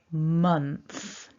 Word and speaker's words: month: let's focus on those our vowel is an uh month now when we look again in a moment at the written form you'll see it's spelt with an o and that's the first common error that occurs is people want to say an o or an o sound o so i've heard many